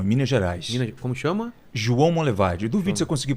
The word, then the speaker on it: João Monlevade: João Monlevade. Duvido se eu conseguir pronunciar corretamente. João Monlevade? Não é? Foi meio que um sotaque aí. Mas como que é? João Monlevade. Monlevade. Isso, João Monlevade.